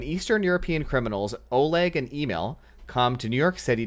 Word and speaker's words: Emil: When Eastern European criminals Oleg and Emil come to New York City to pick up their share of a heist score. Emil, like EMIL. Oh, Emil? Is that how it's pronounced? Not Emil? It's like email.